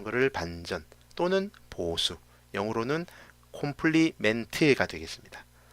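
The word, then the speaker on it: complement: 콤플리멘트. 원래 발음은 컴플리먼트라고 하는데 어쨌든 이 콤플리멘트가 바로 보수입니다.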